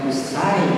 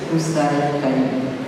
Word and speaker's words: Hussain Ali: It is not pronounced as Huroish. And it's not Huchai. It is Hussain Ali.